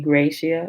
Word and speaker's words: gratia: Based on the Latin word gratia, I may have pronounced that wrong. It could be gratia, gratia, Gratia.